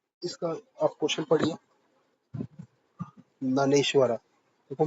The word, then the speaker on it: ज्ञानेश्वर: ज्ञानेश्वरा देखो मेरे हिसाब से इसमें जे साइलेंट होना चाहिए। ठीक है? नानेश्वर भवार्थ दीपिका देन जयदेव गीता गोविंदा एकनाथ देखो एकनाथ तुकाराम ये सब आपने पढ़े होंगे।